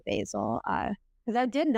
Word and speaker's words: Basil: of Mrs basy franker some people say basil I say basil uh because I did